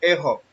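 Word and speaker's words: ἔχω: Se pronuncia ejo y significa tener, sostener, capacidad, contigüidad, relación o condición.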